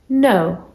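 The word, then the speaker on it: know: So K and N means that the K is silent. You just pronounce the N. No.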